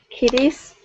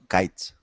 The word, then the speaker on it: kites: How do you think we should pronounce that word? Kitties? No. Kites. Kites, exactly. Kites. It's a little bit confusing because it's very similar to kitties.